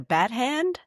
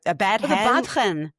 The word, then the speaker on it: badchen: I don't even know if I'm going to pronounce this right. Is it a bat hand? A bad hand? The badchen.